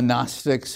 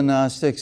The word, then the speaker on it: Gnostic: Very often you hear the term Gnosticism and the Gnostics. It's spelled Gnostic, but don't pronounce it that way.